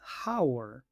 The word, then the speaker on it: hour: Muchos pronuncian esta palabra hour, porque normalmente la H se pronuncia en inglés. Pero aquí la H es muda.